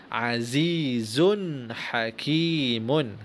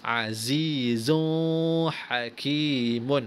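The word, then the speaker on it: عزيز حكيم: sekalinya Ferry wacana macet azizun hakimun sekali lagi azizun hakimun oke dibaca dengan terang tanwin ataupun unit u-know bunyi dengan terang tak boleh baca Azizul Hakim on itu salah bacaannya Salah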